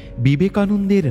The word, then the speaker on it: বিবেকানন্দ: আমেরিকায় বিবেকানন্দের নাম সঠিকভাবে উচ্চারণ করতে প্রায় কেউই পারে না।